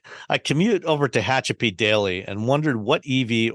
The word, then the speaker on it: Tehachapi: Tehachapi. Tehachapi.